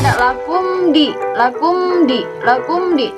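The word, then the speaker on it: لَكُمْ دِينُكُمْ: Ada di situ mim mati menghadapi dal. Kita hukumi sebagai izhar syafawi. Dibacanya jelas. Jadi tidak boleh seperti ini. Lakumdi. Lakumdi. Enggak boleh seperti itu, tapi lakumdi. Lakumdi. Lakumdi. Jadi dibaca jelas ya, disebutnya izhar syafawi.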